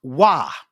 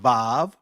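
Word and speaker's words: waw: Even though you may some would say w, but in ancient Hebrew, it'll be pronounced wah. It wasn't yua. It wasn't vav.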